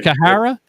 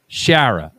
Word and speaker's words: Schara: Kahara, it's out of the way. Sherah. Shara. So, the C is silent then.